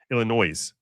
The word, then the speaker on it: Illinois: Illinois, which is the proper phr way of pronouncing that state.